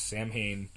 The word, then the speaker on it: Samhain: want to pronounce it, Samhain? No, his name was Sam Hain. Sam Hain. And that is why, to this day, I pronounce that the wrong way.